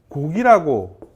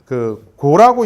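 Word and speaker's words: 告: 그 다음에 얘가 이게 원래는 고할고인데요. 알릴고자인데 여기에서는 곡이라고 하시는 게 더 좋습니다. 그래서 지금도 뭐 고라고 읽는 데도 있고 곡이라고 읽는 데도 있고 아니 두 개가 그냥 혼용해서 많이 쓰시는데요. 근데 곡이 맞죠, 사실은요.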